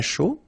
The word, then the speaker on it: chaud: to produce, Un chocolat chaud. Remember, C-H, chaud. Chocolat. And then final T not pronounced. Chaud. Final D not pronounced.